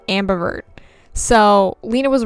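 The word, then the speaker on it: ambivert: just want to point out that I said Ambi avert like six times that I had to cut out it is pronounced Ambert so Lena was right I was wrong okay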